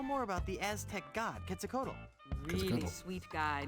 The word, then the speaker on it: Quetzalcoatl: This is how I know how to pronounce the word Quetzalcoatl. And I want to know more about the Aztec god, Quetzalcoatl.